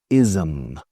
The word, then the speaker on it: ism: Ism. Se escribe ISM, pero imaginad que hay una A en medio. Ism.